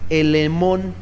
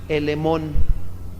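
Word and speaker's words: ἐλεήμων: Ahora, la palabra misericordia en el griego significa elemón, con doble E. Ajá, elemón, doble E y acento en la O.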